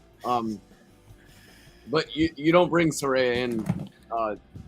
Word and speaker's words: Saraya: love that and um first of all it's Saraya you dumb idiot wait yeah yeah wait Michael